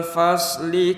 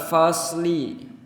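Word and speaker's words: الفصل: Kalau pakai sin pengucapannya jadi fasli, tipis. Tapi kalau pakai shad itu agak ditarik ke belakang jadi fasli, lebih bulat dan lebih tebal.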